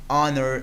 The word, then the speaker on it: honor: Come to the next: an hour, an ire, an honor. We can pronounce H because H letter is silent here. And not a is used because the consonant H in these words is not pronounced.